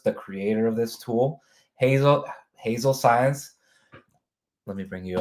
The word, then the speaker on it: Hazel: It's Hazel. Okay. So you pronounce it right.